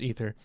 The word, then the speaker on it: Aether: It's pronounced Ether.